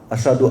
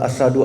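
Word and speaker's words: أشهد: Alfatikah gitu kan kadang-kadang asadu. Asnadu. Iya. Atau kalau dia azan asyhadu alla ashadu ala asad itu kan artinya macan gitu.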